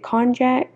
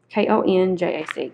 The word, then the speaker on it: konjac: And then they also sent me with the gel cleanser, the, is it konjac? I don't know how to pronounce that word. K-O-N-J-A-C.